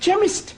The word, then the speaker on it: chemist: begin with a cake it sounds like it begins with k ch but that is making it chemist oh the CH is